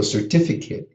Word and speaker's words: certificate: vast majority of cases, the ATE is not going to be pronounced ate. It's going to be pronounced it.